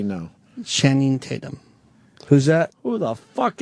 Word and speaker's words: Channing Tatum: You said Shannon. He said Shannon. Shannon Tatum, Yeah.